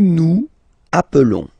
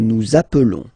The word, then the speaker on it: nous appelons: Nous nous appelons. Okay, so I will make the liaison. Nous nous appelons.